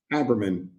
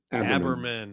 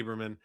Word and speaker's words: Aberman: You said it is pronounced Abberman. Abberman. Abberman. I wanted really wanted to say Aberman.